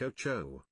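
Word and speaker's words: OTXO: If you're ever in the mood to fulfill that Hotline Miami itch, perhaps the game Oxo would be something you'd be interested. From what I've heard, it's pronounced like Ocho.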